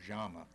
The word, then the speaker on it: llama: You think of the word llama, spelled with a double L. Well, in South America, they say llama or llama.